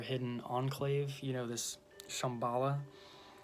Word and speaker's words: Shambhala: Enclave you know this Shambhala maybe it's pronounced because it has an H in it after the B so sham halah but yeah the first